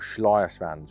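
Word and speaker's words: Schleierschwanz: It's called Schleiersvans, which is the German pronunciation for it.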